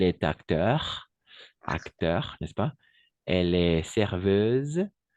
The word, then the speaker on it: serveuse: acteur acteur elle est serveuse serveuse n'oubliez pas le S entre deux voyelles on va prononcer comme un Z d'accord joyeuse d'accord joyeuse